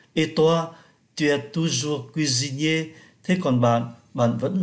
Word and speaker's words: cuisinier: Et toi, tu es toujours cuisinier. Thế còn bạn, bạn vẫn làm nghề đầu bếp phải không? Cuisinier, chúng ta phát âm S thành Z bởi vì nó đứng giữa hai nguyên âm.